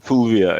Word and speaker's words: Fulvia: I need to pronounce this right. Fulvia. Fulvia, yeah.